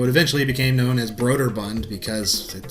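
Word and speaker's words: Brøderbund: beer mixture brooder Bund all I know is that for most of my life I pronounced it Border Bound because I'm an idiot so B bound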